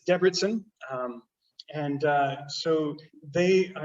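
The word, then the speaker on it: Debrecen: north of debertson and it is not de brechen which is how i first pronounced it and um that's my midwest uh kind of showing through there it's debridsen um and uh so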